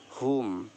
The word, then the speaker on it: whom: next है whom, whom, यहाँ पर भी डब्लू साइलेंट है कि डब्लू एच के